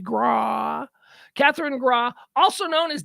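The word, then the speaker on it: Grawe: to ban Catherine Graw that's how it's spelled g-r-a-w-e grah Catherine grah also known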